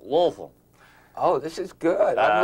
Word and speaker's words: Louisville: it was it was it was named after King Louis the 16th of France so the proper I guess pronunciation is Louisville uh but you can tell if if someone is really a a hillbilly a real hick down in the southern part of Kentucky they say Lewisville oh that's how you